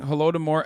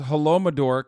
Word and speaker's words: Holodomor: Plus, he's still pronouncing Holodomor as Holomador.